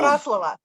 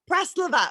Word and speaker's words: Praslova: Oh, Praslava. Praslova. Oh, I said I was going to say it right and I just butchered it.